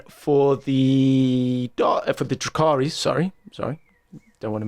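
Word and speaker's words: Drukhari: the then the dark eldar i never quite pronounced his name correctly it's drazaar is it is that right christ mate with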